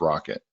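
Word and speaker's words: rkt: implementation of the spec called our Katie pronounced rocket so at that point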